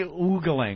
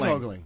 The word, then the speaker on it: ogling: I say oogling. I say ogling. Oogling would be two O's, Anthony. Oogling. Ogling? I say ogling. Ogling. What do you say? Ogling. Ogling. It is ogling.